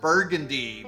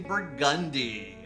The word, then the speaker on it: Burgundy: at 1201 burgundi Street everywhere else in the world you pronounce that burgundy but in New Orleans we say burgundi my last visit here